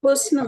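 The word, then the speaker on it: حسن: निखर गया हुसन हुस्न हुस्न यहां पे हे सन है और नून है तो ये बनेगा हसन हसन पढ़ सकते हैं इसको लेकिन हे के ऊपर पेश आएगा तो हुस्न बन जाएगा।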